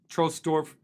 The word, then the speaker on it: Trosdorf: outside of Bamberg uh I think it's actually pronounced trolls trostorf um t-r-o with the